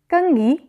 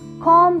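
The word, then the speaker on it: comb: English में कहते हैं कि में कंघी को इंग्लिश में कॉम कहा जाता कॉम को इंग्लिश में क्या कहा जाता है इस लव के आखिर में बीच साइलेंट है कॉम कॉम घंटा को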